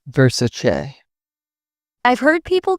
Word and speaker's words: Versace: People often say Versace with a hard ch. Donatella herself corrected everyone, it's Versace.